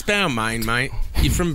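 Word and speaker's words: Balmain: B you know the the clothing label B it's Bal man mate you're from b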